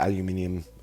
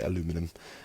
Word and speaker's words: aluminium: from memory, and it's just the aluminium color, or as the Americans say, aluminum color, and it's just like